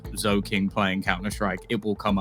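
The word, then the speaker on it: Zhoking: seen it i'm sure if you googled like zoe king playing counter-strike it will come up and uh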